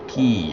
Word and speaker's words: quays: this or should we add some quays key that's that's pronounced key I believe there's a